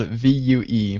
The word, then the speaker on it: Vue: It is spelled V-U-E, but it's pronounced Vue, so that's good to know.